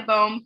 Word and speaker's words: Bohm: our speakers today, Baum, who is it Baum or Bohm? Oh, rhymes with home in most parts of the country, but not all parts of the country.